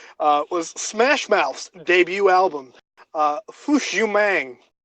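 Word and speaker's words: Fush Yu Mang: Smash Mouth debut album foosh you mang and which i think is how it's pronounced it's basically you man said through completely cut out so no it's it's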